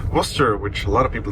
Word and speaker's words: Worcester: Worcester, which is pronounced Worcester, which a lot of people don't know cuz